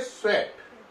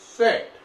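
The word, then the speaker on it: Tswett: Chromatography के खोजकर्ता थे स्वेट। यहां पे ध्यान देने की बात है, टी को साइलेंट रखना है, स्वेट, टी साइलेंट है।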